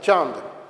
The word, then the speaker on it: চাঁদ: চন্দ্রবিন্দু দিলে চাঁদ, নয়ের সঙ্গে একটু মিলিয়ে উচ্চারণটা করতে হবে চাঁদ।